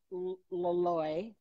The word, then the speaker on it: Loloi: You have rugs at Loloi. Is that how I pronounce it?